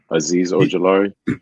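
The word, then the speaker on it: Azeez Ojulari: Aziz Ojelari.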